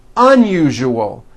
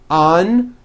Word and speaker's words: unusual: Okay, now try unusual. Un-u-ju-o. Unusual. Like that.